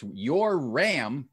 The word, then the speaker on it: Yoram: And Yoram, in case you're wondering, is spelled Y-O-R-A-M. And so it's Yoram, but it's said Yoram.